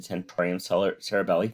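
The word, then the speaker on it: tentorium cerebelli: flaxseed this is the temporium cerebelli think of tent and cerebellum that's basically how you say it in latin and the fox cerebri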